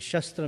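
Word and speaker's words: शस्त्र: other up you know in sanskrit shastra and shastra both are the same spelling in english but the pronunciation is different sastra means scripture and shastra means weapon so often times we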